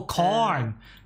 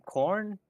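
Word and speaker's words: Khorne: Oh, Korn! Oh, Korn. Korn! Yeah, Korn! With a K, not a T. I believe the people, the one with the weapons are from Korn.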